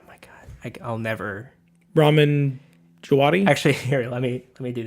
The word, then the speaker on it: Djawadi: Jawadi. It's a silent D. Yeah. D is silent.